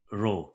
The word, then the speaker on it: rho: the mean of the population it is called rho this is how we pronounce it we need to study rho if r shows that there is a strong